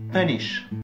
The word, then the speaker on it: punish: Attention, pour le U, cette règle ne s'applique que pour les terminaisons en ish. Donc, on retrouve bien cube, cubic, unit, stupid, mais punish.